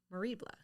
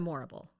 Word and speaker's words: Morrible: And she appeared on Broadway in Wicked as Madame Moribla. Moribla. Not the right person. I know. I watched it and then I forgot how to pronounce it. Madame Morrible. That sounds right. Like horrible.